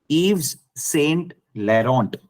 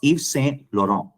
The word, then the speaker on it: Yves Saint Laurent: when you say uh there is a perfume called yvs Eve's Saint Laurent is what people call it it's Yves Saint Laurent when you have a